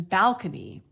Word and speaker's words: balcony: complaint about the pronunciation balcony because and someone said this it's enough to make you sick because when it was borrowed in from Italian the stress was on the second syllable it was balcone but